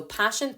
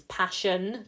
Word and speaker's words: Paschen: So Paschen, P for passion, not P-A-S-S-I-O-N. It's Paschen, P-A-S-C-H-E-N.